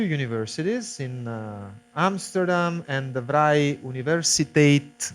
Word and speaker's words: Vrije Universiteit: Jamal Shaheen is a professor in two universities, in Amsterdam and the Vrije Universiteit, which is the Flemish pronunciation of university in Brussels, which means free university.